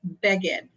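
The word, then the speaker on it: בגד: That's beged.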